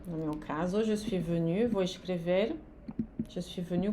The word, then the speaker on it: venue: Na pronúncia é a mesma, é na escrita que no feminino você vai ter que marcar um e.